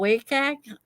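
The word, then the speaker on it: WCAG: when it comes to accessibility um it's called wake egg uh you spell it w-c-h-g and so this is what the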